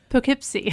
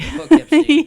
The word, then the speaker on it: Poughkeepsie: Poughkeepsie. Poughkeepsie.